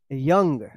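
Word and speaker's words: young: इसका सही उच्चारण होगा यंग।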